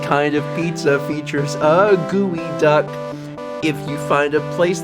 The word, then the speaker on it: geoduck: gia duck gooey duck it's spelled geoduck but it is gooey duck anyway so you are